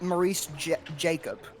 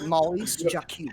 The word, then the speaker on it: Maurice Jacob: Well, most English speakers would call it Maurice Jacob. Maurice Jacob. But it's pronounced Maurice Jacob.